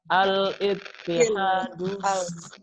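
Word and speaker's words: الاتحاد: Kenapa ini bacanya al meskipun nggak ada sukun? Karena alif lam. Alif lam. Alif lam. Iya, alif lam. Meskipun nggak ada sukun di atas tetap kita baca al.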